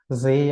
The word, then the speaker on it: 税: This is Zay, or you can say if you combine with other kanji, it pronounces as Zay. Otherwise, we can call it as Say, which is tax.